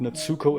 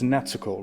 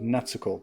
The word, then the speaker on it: Natsuko: But I've heard this before, that it's not Natsuko, it's Natsuko, right? That's how you pronounce it, Natsuko, like with the very short U, almost like Natsuko.